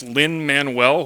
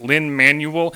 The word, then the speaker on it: Lin-Manuel: never mind that as she said the first name as Lynn Manuel when even I know he pronounces it Lin Manuel and then somehow she